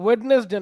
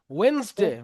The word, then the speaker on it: Wednesday: আচ্ছা আরেকটা ভুল হচ্ছে তোমাদের, সেটা হচ্ছে ওয়েডনেসডে না, ওয়েন্স একসাথে হবে, দন্তেন্ন আর শটা একসাথে হবে। ওয়েন্সডে বলো, ওয়েন্সডে, ওয়েন্স বলো, ওয়েন্স একসাথে, ওয়েন্সডে।